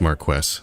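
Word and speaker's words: Marquess: Is it more quests? Hold on. I'm just looking up a YouTube video here. One moment. Okay. It is Marquest.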